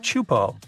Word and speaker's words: Teahupo'o: It's pronounced Teahupo'o and it means broken skulls in Tahitian. Yeah, you heard that right. Broken skulls. The waves at Teahupo'o are massive and can reach up to 23